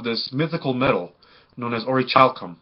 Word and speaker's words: orichalcum: mythical metal known as or a child come i believe is the print excuse me the correct pronunciation of it so this metal is